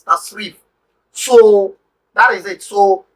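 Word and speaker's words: تصريف: or popularly known as surf. It's one aspect of Arabic language, surf or tasrif. Proper pronunciation, proper word is tasrif.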